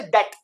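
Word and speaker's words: debt: जाता है तो ये बी साइलेंट हो जाता है जैसे डेट अब ये डेट क्या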